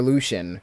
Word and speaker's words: LUC-13N: Or Lucian is how you pronounce it, but you can call him Lush or however you.